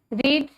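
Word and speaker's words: read: रीड, इसकी form जो है वो कट की तरह है बट इसकी प्रोनाउंसिएशन चेंज हो जाती है। ये रीड है तो इसे पढ़ा जाता है रेड, रेड, और रीडिंग इधर हो जाएगा रीड्स।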